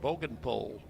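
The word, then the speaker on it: Bogenpohl: Three and two now to Bogenpole. Spelled his last name spelled B O G E N P O H L pronounced Bogenpole.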